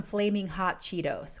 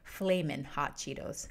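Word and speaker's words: Flamin' Hot Cheetos: processed how about some flaming hot cheetos or flamin hot cheetos excuse me make sure i pronounce those correctly very common takis is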